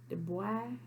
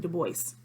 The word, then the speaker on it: Du Bois: in w.e du bois the boy the boy it ain't the voice don't get on this comment and then you don't pronounce the end the boy he was